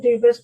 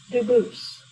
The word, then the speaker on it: Dubus: spelling in America, and they do pronounce it Dubus, but you said you pronounce it Dubus, Dubus? as the original Dubus, as the original French. Yep. Very well, Dubus.